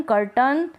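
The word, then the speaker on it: curtain: अ बोल रहे हैं ए आई के लिए। फिर विलन में भी ऐसा है। विलन कर्टन सर्टन, माउंटेन और फाउंटेन में।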